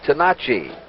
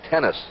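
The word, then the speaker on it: Tenace: He says the correct pronunciation is Tenachi. Fury Gene Tenachi is his name, but he has anglicized it now to Gene Tennis.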